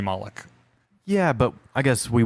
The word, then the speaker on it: Moloch: So Moloch is 2 syllables.